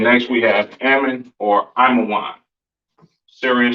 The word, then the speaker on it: Ammon: So Ammon, so-called Japanese, pronounced Imawan.